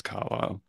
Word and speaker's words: Carlisle: just search carile that will come out my last name is I got a silent s in there it's the c a r l i s l e and um got to